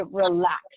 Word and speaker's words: relax: It would be relax, and the stress is on the second syllable.